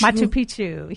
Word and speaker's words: Machu Picchu: Before you go, Christy Rounds, I've got to ask you about how do you pronounce Machu Picchu? Machu Picchu.